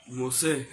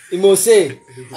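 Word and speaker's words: emose: Imose. Imose. Okay, I think Ryan is getting there. What? Ryan, once again, what? Imose. It's M-O-S-E. Not imos.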